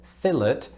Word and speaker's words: fillet: of subtle difference but in neither case do we pronounce the l as far as i'm aware i say half half